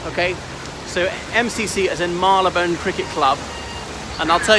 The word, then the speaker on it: Marylebone: then corrupted into Marylebone so it's still retinas Marylou bone but as one word but pronounced Marylebone see this danubius hotel